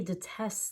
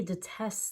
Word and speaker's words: detest: a different meaning here so this one is detest not detest it doesn't have anything to do with the opposite of a test here detest means to